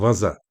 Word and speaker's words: waza: ve Japonca vaza anlamı yani olarak okunuyor.